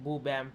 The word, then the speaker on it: Boo Bam: So it is said like Boo Bam Finance.